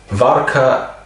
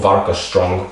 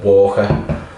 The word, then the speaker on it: Warka: Anyway, yeah, it's spelled W A R K A, but don't call it Walker.